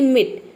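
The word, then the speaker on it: meat: यहाँ पे केवल हम ई को प्रोनाउंस करते हैं, तो ये होता है मीट, ए लेटर साइलेंट है।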